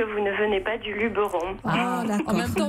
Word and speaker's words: Luberon: on est divisé dans deux camps pour la prononciation du mot luberon ou luberon.